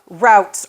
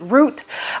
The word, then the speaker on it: route: there are two uh routes or routes to persuasion I know depending on what part of the country you're from some people pronounce it uh route some people pronounce it root uh so uh I'm